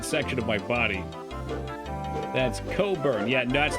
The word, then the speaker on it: Cockburn: Bruce Cockburn. Yeah, I'd rather not burn that section of my body. That's Coburn. Yeah, no, that's not how it's spelled.